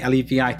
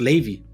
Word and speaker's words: Levi: that's what it is it's like the ashkenazic jewish version of levi um so but it's